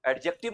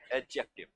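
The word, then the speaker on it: adjective: इसमें एक बात का ध्यान रखिएगा कि इसमें डी को साइलेंट रखना है। है ना? एडजेक्टिव नहीं बोलते हैं। क्या बोलते हैं? एडजेक्टिव समझ गए विशेषण जैसे ये संज्ञा है, यह सर्वनाम है, यह विशेषण।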